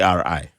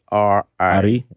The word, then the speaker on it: Ari: It's supposed to be ARI. ARI. Okay. Yeah. We fall into that one of those categories of people who they claim the white man couldn't pronounce ARI. Ari, yeah, so they're like. Yeah. Yeah, and by the time I was born, they didn't change it, so that's how I ended up with.